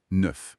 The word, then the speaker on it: neuf: Et neuf neuf neuf ce sont e. C'est un peu comme dans de mais plus ouvert.